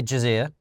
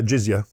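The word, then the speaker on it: jizya: So you have to pay jazia. Yeah. Uh don't know if I'm pronouncing that correctly. No. Yeah. Jiza.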